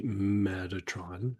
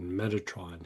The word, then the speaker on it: Metatron: So the idea of saying Metatron is a casual pronunciation, right? So you can say meth tron, or you can say meth ra tone. Right? So you can say it either way.